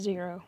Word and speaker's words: Xero: It's pronounced Zero, or at least that's how everyone else pronounces it. X's are pronounced like Z's for some reason.